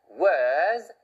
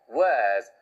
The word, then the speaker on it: words: 그런데 speaking words, R 발음 없이 마치 긴 모음처럼 words, speaking words, speaking words of wisdom 이렇게 발음하시면 바로 영국식 발음이 되는 거죠.